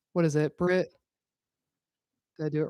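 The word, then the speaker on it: Britt Lower: I always say her name wrong. What is it? Britt.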